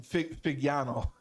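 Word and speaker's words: Fagnano: I personally really love Joe Finagno. How you say his last name? Figiano. Yeah, I really like him. I say it wrong.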